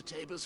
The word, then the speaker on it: Tabor: This is Oh, it is pronounced Tabor.